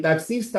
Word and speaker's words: taxista: En taxista la X vale por dos porque tiene doble sonido.